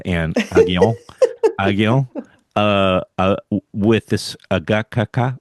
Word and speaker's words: Gacaca: part one with Anne Aghion Aghion with this Agaca. How do you pronounce it? Agaca? Gacaca.